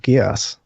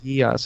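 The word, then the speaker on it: Geas: That is a symbol of Gios.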